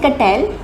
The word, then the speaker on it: Cattell: So this theory कटल state theory when we से कटल we mean you must have heard of मे बी was given by Raymond. कटेल please pay attention with the spelling it's नॉट कैटल इट्स कटेल।